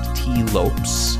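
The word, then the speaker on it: Tee Lopes: a minor celebrity uh I believe it's pronounced T Lopes T Lopes music who's doing the music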